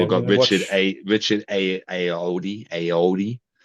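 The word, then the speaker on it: Ayoade: Yeah, We've we're got gonna watch Richard Aoudi. How do you say his name? Ayuwadi.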